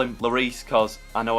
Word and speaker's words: Lloris: Lloris or as I used to call him Lori ass I could not pronounce names that was back in school and